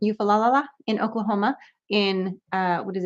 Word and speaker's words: Eufaula: I always say it wrong. Somebody's going to correct me. Eufaula. That's the correct way to say it. Eufaula in Oklahoma in, what is it, May 17th or something?